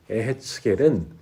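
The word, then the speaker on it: יחזקאל: 이었음을 우리에게 증언하고 있습니다 에스겔의 히브리어 발음은 애 했 게 립니다 에 했 겔은 하나님께서 나를 강하게 하신다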